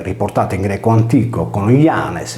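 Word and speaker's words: Ἴανες: Pausania narra che gli Ioni, abitanti di Atene, riportati in greco antico con Ianes, pronunciato Zanes, erano i discendenti di Codro, ultimo re di Atene, ucciso forse dagli Achei.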